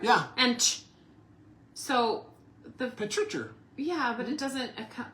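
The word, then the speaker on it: petrichor: Patricher. Patricher? Patricher. Patricher. Yeah. That's how you say it.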